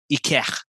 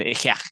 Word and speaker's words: Ikech: But the correct way to pronounce his shop is Ikech. You gotta put the phlegm in Ikech.